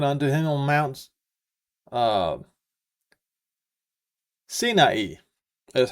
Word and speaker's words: Sinai: Lord, had spoken unto him on Mount uh Sinai, is how it's pronounced.